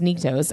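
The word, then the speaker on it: Nyktos: So I say, first of all, it's pronounced Niktos.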